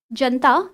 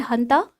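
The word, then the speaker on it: junta: a military coup, and this janta, which is pronounced as hanta, so it said that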